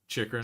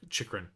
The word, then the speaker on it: Chychrun: Chychrun. I think it's Chychrun. Okay, once more for the. Okay, got it. Cheeky babe. That's how I remember it.